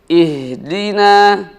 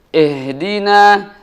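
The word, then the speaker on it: اهدنا: ini yang harus diperhatikan dibacanya ihdina ihdina dengan mengkasrohkan dan juga menipiskan harokah kasrah di sini ihdina sehingga tidak terbaca eh Dina eh Dina II sebagaimana kita mengucapkan bunyi I dengan jelas ih Dina selanjutnya selain daripada huruf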